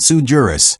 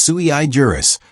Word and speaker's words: sui juris: It's not sujurus, it's sui juris, which in case you didn't know, is Latin for crayon cruncher.